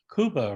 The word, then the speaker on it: Cuba: not spanish actually they they pronounce it koopa right it's great yeah